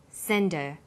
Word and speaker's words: send her: Because her is not stressed, we drop the initial H sound. So it's pronounced sender. What did you send her?